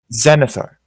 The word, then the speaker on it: Xanathar: Zenithar. Too many Z's. I do agree. Technically, it's an X, but yeah. Pronounced like a Z.